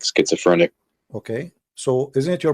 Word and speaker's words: schizophrenic: will not accept him because he had what japhenisia you said that right i don't know how to say correctly say it again please how do you say that word uh schizophrenic schizophrenic okay that's that's a big quote for